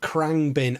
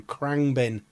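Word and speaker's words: Khruangbin: Krangbin. I didn't know. I had no idea how to pronounce it, so thank you. Krangbin. Krangbin.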